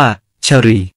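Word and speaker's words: ศรี: ใน อินโดนีเซีย แล้ว เติม สระ อีก บน ตัว ส ศาลา คำ นี้ ใน ไทย อ่าน ว่า สี แต่ ใน อินโดนีเซีย อ่าน ว่า ชรี ตัว ต่อ ไป คือ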